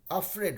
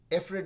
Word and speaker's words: afraid: तो वैसे ही अफ्रेड जो है AFRAID, अफ्रेड होगा अफ्रेड, अफ्रेड, एफ्रेड नहीं बोलेंगे कभी भी।